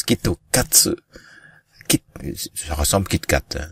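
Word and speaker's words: きっと勝つ: C'est parce que le mot Kit Kat prononcé en fait phonétiquement en japonais donne Kitokatsu.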